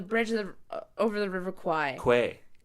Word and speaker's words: Kwai: Quay. Quay. It is pronounced Quay.